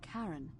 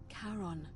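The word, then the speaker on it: Charon: as you descri Des cribed it only your pronunciation is a little off the name you heard wasn't Karen it was c h a r o n as in karon the Fairman of the Dead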